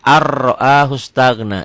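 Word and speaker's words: أَن رَّآهُ: Dibacanya ar-ra'ahu stagna. Di atas ro-nya ada tasdidnya. Berlaku ketentuan setiap huruf mati ketemu huruf bertasdid, huruf matinya jangan dibaca.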